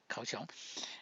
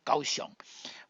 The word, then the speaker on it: Kaohsiung: So after Japanese come to send the troops to Taiwan, especially they come to Kaohsiung, and Kaohsiung in that time they heard the